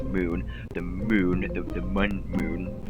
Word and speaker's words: Mun: is circling Kerbin is spelled with one U and not two O's, so it's like mun, but it's pronounced moon, the moon, the mun moon thing.